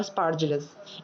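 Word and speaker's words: Aspergillus: और fungi group हमारे कौन कौन से हैं, ब्रीड माउंट, पेनासिलियम और स्पार्जिलस। यहाँ पे ए साइलेंट है, स्पार्जिलस में दिख रहा है आपको, ये स्पार्जिलस की फोटो है।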